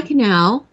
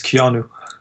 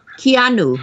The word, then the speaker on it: Keanu: goals thank you Andrew hi Canal is that how you say it it's Keanu Keanu sorry it's very unusual